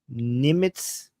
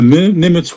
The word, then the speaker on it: Nimitz: military has moved the aircraft carrier USS Nimitz. Is that how you pronounce it?